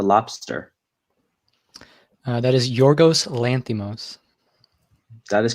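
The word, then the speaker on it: Lanthimos: directed 2015's the lobster that is your ghost lanthum oz that is correct tough name to pronounce but he nails it number two who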